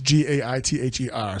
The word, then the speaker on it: Gaither: Brittany Gaither, or Gaither, it's Gaither. So I'll let you pronounce that yourself. It sounds like you're saying geyser, but you have a lisp.